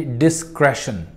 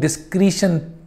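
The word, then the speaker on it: discretion: अब इसको नॉर्मली लोग डिस्क्रीशन प्रोनाउंस करते हैं, which is wrong. The correct pronunciation of the word is डिस्क्रेशन।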